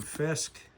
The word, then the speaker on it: Fiske: And now we have Braeden Fiske. Like Wilson Fisk, Kingpin. Jalin Tolbert.